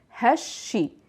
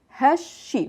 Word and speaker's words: هالشي: the ha to ishi, because our first letter is a sun letter, we could drop the il altogether and connect the ha directly to the sheen, and it would be altogether hashi, hashi, without pronouncing the il.